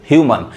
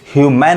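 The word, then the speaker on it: human: अब यहाँ पे जो ए पढ़ा रहा है वो मन, अ पढ़ा रहा है, मन, ह्यूमन, ह्यूमैन नहीं, गलत हो जाएगा, ह्यूमन।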